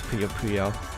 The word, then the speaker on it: Puyo Puyo: Or it's actually Puyo Puyo, but I for some reason always say Puyo Puyo, but it's Puyo Puyo. So I'm trying to get into the habit of saying it right.